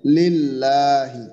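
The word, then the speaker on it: لله: ইয়ে না হয় এই বিষয়টা খেয়াল রাখেন তাহলে লিল্লাহি তাইতো এরপরে এই যে আমরা যেখানে দেখতেছি যে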